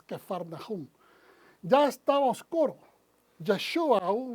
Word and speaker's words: Capernaum: que faraón esa escapernaum normalmente lo conocemos pero el verdadero pronunciación es que farnajún ya estaba oscuro yeshua